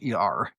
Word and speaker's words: Sher: It's not spelled like the artist share. It's Sher. Yes, it's like the diva but with an S.